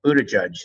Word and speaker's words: Buttigieg: And I must say, I saw this young mayor, Buttigieg, as you told me his name is pronounced, who's the mayor of South Bend.